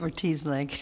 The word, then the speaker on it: Ortiz-Lage: Ms. Ortiz-Lage, is that how you pronounce it? Yeah. Or is it? Ortiz-Lage. Okay.